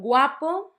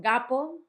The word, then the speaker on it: guapo: The next one, guapo, it's not gapo, it's a very different thing.